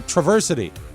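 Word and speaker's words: Traverse City: Arizona Grass Valley California Travers City uh Michigan Travers City Travers City what he was specific there's a pronouncer there traversity oh traversity cuz they put the that's how they say it there he said he was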